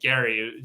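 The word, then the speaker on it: Gerry: of Massachusetts Eldridge Gary he pronounced his name Gary g r r y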